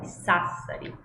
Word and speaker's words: Sassari: Então, quando eu tenho a sílaba SA no início de palavras, eu sempre vou pronunciar como sa, como em Sassari, como em sapere.